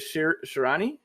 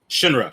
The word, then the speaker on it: Shinra: Yo, I'm gonna probably pronounce this guy's name incorrectly, but is it Shirani? Shirani? Yeah. The main character? Yeah. Shinra. Shinra. Yeah. Shinra.